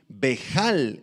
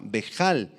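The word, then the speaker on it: בהל: Esta palabra turbación, bejal en el arameo, con H y acento en la A, bejal, significa que tuvo pensamientos que lo asustaron y que lo alarmaron y lo confundieron.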